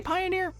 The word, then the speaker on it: Pioner: games called pioneer uh they say pioneer but it's not spelled like pioneer it's pioneer whatever anyways so this is